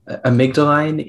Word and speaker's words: amygdaline: Your word is amygdaline. This amygdaline is an adjective.